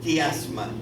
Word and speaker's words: quiasma: se le llama un quiasma. Y en algunas lenguas, como el alemán y el inglés, se escribe así. En español preferimos muy a menudo escribirlo con Q y decimos quiasma, pero se trata siempre de la letra I.